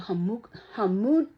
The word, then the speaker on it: homunculus: I think it's called homunculus. Like human. Homunculus.